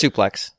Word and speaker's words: suplex: it was a suplex how do you pronounce that it's suplex suplex yeah she suplexes you